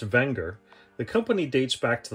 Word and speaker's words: Wenger: please stand by for history of anger technically pronounced wenger the company dates back to the late 1800s